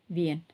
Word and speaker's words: viennent: So we don't do this. There is no pronunciation for the ENT.